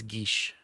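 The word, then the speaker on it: geas: name here uh but I did it Google search and it's Gish yeah so like Sean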